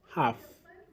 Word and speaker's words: half: Half, half with the letter L silent.